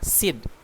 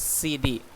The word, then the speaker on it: CD: Lalu CD, compact disc, nggak boleh ngomongnya SID, nggak boleh, tapi harus CD, one by one. You must pronounce it one by one.